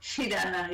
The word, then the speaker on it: Shirana: Shirana, yeah. Chocolate. You must think of chocolate.